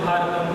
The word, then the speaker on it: Bharat: The connection that we feel comes through the name, which is correctly pronounced as Bharatam or Bharat.